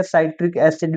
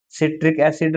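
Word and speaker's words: citric acid: सिट्रिक एसिड भी बोल सकते हैं, साइट्रिक एसिड भी, ज्यादा आप सही जो प्रोनाउंसिएशन है वो सिट्रिक एसिड रहेगा।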